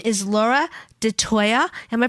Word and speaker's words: DeToia: that she engages in her name is laura de toya am i pronouncing your name correctly yes okay laura de toya she's a reiki two practitioner and her company